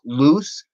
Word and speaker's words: Luce: Okay, just recently, it's it's Hell Broke Loose, and loose is spelled Luce.